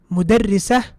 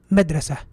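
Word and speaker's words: مدرسة: Mudarrisa, madrasa. How did I know the difference? How did I know that this is mudarrisa and this is madrasa? Because of the shadda, my dear brothers and sisters.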